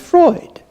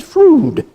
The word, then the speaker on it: Freud: The well-informed pronounce it Freud, whether to cavil or applaud. The ill-informed pronounce it Froude, but I pronounce it fraud.